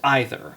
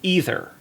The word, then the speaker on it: either: it this way, but I pronounce the word either as either, whereas most people around pronounce it either.